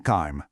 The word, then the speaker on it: calme: Just remember to give it that very subtle soft uh sound at the end when you pronounce it. Not a hard stop, just a gentle breath to make it sound natural.